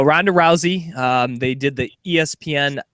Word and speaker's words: Ronda Rousey: the UFC here um Honda howy I believe that's how you pronounce her name do I have that correctly the RS are like H's 100% okay no no Ronda Rousey um they did the